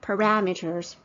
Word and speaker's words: parameter: Okay, the fourth point is about parameters. I was surprised it's pronounced as parameters because I always pronounce it as parameters. So Carrie Chung pronounced it as parameters.